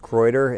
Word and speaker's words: Kreuder: mr mayor so sir my last name is pronounced kreuter and i think you already know that my